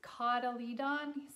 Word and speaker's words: cotyledon: to pronounce those little baby leaves, which is cotyledon, C-O-T-Y-L-E-D-O-N. I'm not sure how you pronounce it.